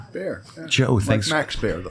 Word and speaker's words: Baer: Did I pronounce Bear right? Bear.